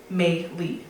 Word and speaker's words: Maylee: We have Maylee Keo, pronounce Maylee, thank you, like the month.